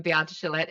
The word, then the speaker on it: Beate Chelette: So I am Beate Chellette. An excellent job on the pronunciation, Thank you.